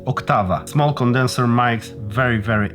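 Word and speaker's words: Oktava: amazing mic octava mk12 yes you should pronounce it octava small condenser mics very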